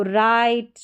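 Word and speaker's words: write: राइट, wrong, rap, rest और rack है। यहां पर डब्ल्यू साइलेंट है।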